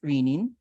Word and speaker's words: renin: the renin in kidneys actually sometimes it's correctly pronounced though as rinin so it's rinin because renin re n n